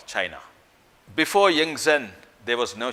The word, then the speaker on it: Qin: In 200 BC, there was no country called China. China then was divided into small kingdoms, fiefdoms, and it was not united. There were warring states in China. In a small feudal state called Qin, pronounced Chin, the feudal lord or